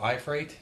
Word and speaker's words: Iafrate: I'm here with Iafrate. Am I pronouncing your name right?